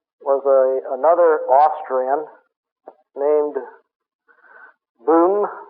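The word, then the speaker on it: Böhm: his great pupil was a another Austrian named boom b b o hm with an o l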